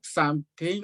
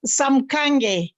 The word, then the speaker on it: Samkange: There's a hand up, Sam King or Sam Kenny or whatever. There's a hand up. Yeah, that is Grace, I believe. Yes, that's Grace. Yeah. It's Okay. pronounced Samkange. Oh, Sam Kange, okay.